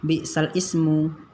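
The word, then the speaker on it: بِئْسَ الِاسْمُ: Jadi bacanya nanti bukan bi'sal ismu, tapi bacanya bi'salismu.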